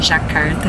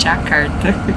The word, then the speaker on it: Jakarta: Indonésia e e aqui a pronúncia Indonésia é d então por isso que a gente não fala Java é Java e nem jakarta é jakarta eu procuro sempre aprender